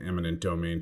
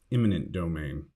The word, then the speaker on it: eminent domain: One other note of caution, if you're thinking about adding eminent domain to your vocabulary, make sure to avoid the common mistake of pronouncing or writing it as imminent domain.